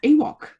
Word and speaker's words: EWOWC: grimshaw the co-chair of ewok and yes it is pronounced just like the george lucas creature we would also like